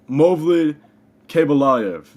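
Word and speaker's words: Movlid Khaybulaev: Hank, how is Mavlid, how do you say his name? Movlid Kabalayev, the guy from PFL.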